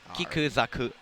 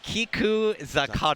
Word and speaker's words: Kiku Zakaru: It's Kiku Zaku. That's actually Kiku Zakaru.